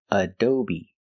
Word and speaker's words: Adobe: computer program pronunciation Adobe the first syllable is uh like up and cut a do the second syllable is O long o like Go and show a do and the last sybol is B long e like green beans aob the stress is on the second syllable adob Adobe I run Adobe